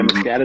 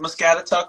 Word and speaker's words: Muscatatuck: Yeah, Muscatatuck. How do you pronounce that?